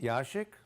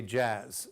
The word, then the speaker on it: Yashik: My last name is pronounced Yashik if you're in Lithuania, and here in Ellis Island they say Jazz, so everybody calls me Jazz.